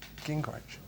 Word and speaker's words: Gingrich: Gingrich. Gingrich. Gingrich. All right, wicked. Gingrich. Okay. Gingrich.